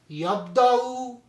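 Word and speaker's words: يبدأ: Yabda'u, Kuriya, Ikra. So one thing keep in mind, when we are reciting those type of letters here, this wa is not pronounced here. It becomes yabda'u.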